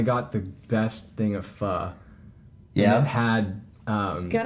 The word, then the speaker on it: pho: We walked through that, and I got the best thing of pho.